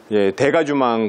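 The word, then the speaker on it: dégagement: 그래서 이 고딕 성당의 어떤 최전성기를 이루는 이런 구조 시스템을 대가주망 공법이라고 보통 부릅니다. 이게 이제 불어인데 영어로 치면 디게이지먼트죠. 스펠링은 똑같고 발음만 다른데 이게 이제 무슨 뜻이냐 하면은 해체, 분해 이런 뜻이에요.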